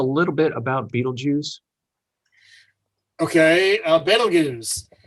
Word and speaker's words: Betelgeuse: Okay, Betelgeuse. Some people call it Betelgeuse. If you try to use some of the Arabic pronunciations, it's Betelgeuse. Some even spell it with a Z instead of an S.